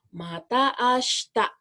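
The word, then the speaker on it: また明日: Iya, mata ashita. Jangan lupa, shi-nya jangan diucapkan. Mata ashita. Seperti itu ya.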